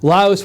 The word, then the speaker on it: Laos: Laos, Macintosh Geek says Laos is pronounced Laos with an S. Lao is pronounced Lao. The Lao people live in Laos. 2 different words with different meanings. So I know it's pronounced with an S.